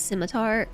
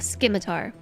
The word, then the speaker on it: scimitar: By the way, I know that it's Scimitar, but I just prefer to pronounce Scimitar. a skimar because I think it's funny. Might as well just change that C to a K and call it a Skimitar.